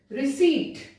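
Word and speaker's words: receipt: नहीं बोला जाएगा रसबेरी, रिसीट यहां पर पी साइलेंट है रिसीट, फिर निमोनिया पी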